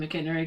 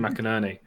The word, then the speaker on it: McInerney: I call him Tim McInnery because it's wrong, but it's how I pronounce it. I thought it was Tim McInnery. I thought it was Tim McInnery. He calls himself Tim McInerney.